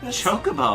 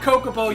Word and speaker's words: Chocobo: Chocobo. Thank you. That one's easy. That's because that's What's what they're the other called. pronunciation? Say it. Kokobo. It's not Kokobo, you monster.